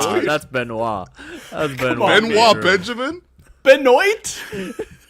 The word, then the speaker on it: Benoit: No, that's Benoit. That's Benoit. Benoit Benjamin? Benoit? It says on the pronunciation guide, b e n and then dash capital o y t capital.